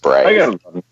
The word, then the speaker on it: Braithe: The guy down at the studio where we jam calls him Brave, which I like. Brave. It's good. Yeah. And we've never corrected him. It's just Brave.